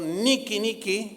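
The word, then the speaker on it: Νίκη: meta por cierto esa palabra que él él pronunció Niki Niki en griego es ni que bueno el primer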